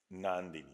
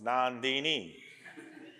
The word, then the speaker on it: Nandini: Nandini. So this is how an American will pronounce it. Nandini. What a Bengali will pronounce, Bengali Oriya, Nandini.